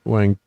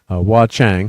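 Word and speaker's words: Wah Chang: communicators now using this pencil box is why Wang I'm trying to say his name correctly. Wa Chang, thank you.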